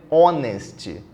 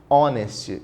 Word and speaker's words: honest: fala essa palavra é honest honest então não fala o h Olha lá se não fala o h o som é de vogal e o som de